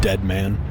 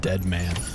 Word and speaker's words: Deadman: die hard man and dead man pronounced die hardman and dead man though not deadman sam this is